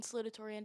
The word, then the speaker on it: salutatorian: Ours is like, so it's valedictorian and the other one, I don't know how to pronounce it. Salutatorian.